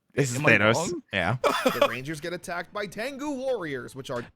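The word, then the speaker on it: Tengu: is I'm so mad how many times I've had to tell people no it's tangu however tangu Warriors in the show they do say it like tangga so are giant Birds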